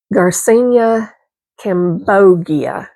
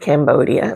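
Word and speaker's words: Garcinia cambogia: I realize now how horribly I mispronounced this. Uh, it's Garcenia Cambogia. I said Cambodia last time.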